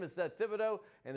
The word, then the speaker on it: Thibodeaux: You're Seth Thibodeaux. You spell it T-H-I-B-O-D-E-, like we always say. Yeah. Thibodeaux is always kind of threw me for a loop because it's with no E.